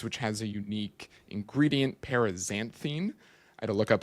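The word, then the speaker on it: Paraxanthine: has a unique ingredient, Parisanthine. I had to look up how to pronounce it. literally Googled one of those YouTube videos how to pronounce parisanthine because it's an X, not a Z.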